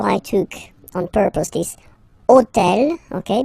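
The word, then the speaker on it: hôtel: took on purpose this hotel okay because it starts with Ash but remember that in French we don't pronounce Ash okay so basically the first sound of the word is the vowel o okay so for the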